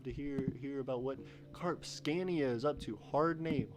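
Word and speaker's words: Karpskania: me k-a-r-p-s-k-a-n-i-a and so i figured out it's carb scania but rpsk looks weird to say uh and that's a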